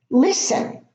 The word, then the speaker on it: listen: Now the T is not pronounced, and in some of them it is preceded by an S followed by an L or just a vowel.